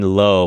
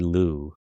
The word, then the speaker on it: Luo: I've been saying Lo, but they say Lou.